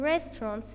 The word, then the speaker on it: restaurants: Restaurants. Yes, the first syllable is stressed.